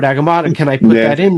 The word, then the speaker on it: Agamotto: do a little, and it's like a 4-syllable word, Agamotto.